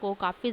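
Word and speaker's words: caulk: इस चीज़ ने रिसेप्शनिस्ट को काफ़ी ज़्यादा व्यस्त रखा। बढ़ते हैं नेक्स्ट स्लाइड की तरफ, और जो हमारा वर्ड है वो है कॉक। इसमें आप एल को साइलेंट ही मानो।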